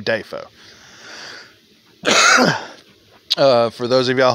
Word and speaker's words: Dafoe: pronunciations of william defoe it's defoe by the way not duffo it's defoe he said it himself there's a clip if y'all want to look for that it's william dafoe uh for those of